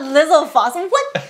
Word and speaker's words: Lizalfos: It's not Lizalfos. In what universe? This is Lizalfos. Who is pronouncing Lizalfos and who's rating them?